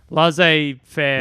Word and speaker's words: laissez-faire: It means like free for all capitalism, laissez-faire.